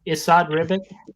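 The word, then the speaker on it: Esad Ribić: It's Isad Ribic.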